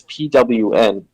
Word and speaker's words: pwn: actually uh pronounce that that's pwn is the organization uh sounds like tone yeah it means to like own it's like a typo of the word own like I own that's how I looked